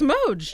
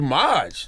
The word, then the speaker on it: Moj: Did I say that right? Moj. Moj. You said it right. Yeah, It's it's Moj? Moj. It's Moj. I thought it was Maj.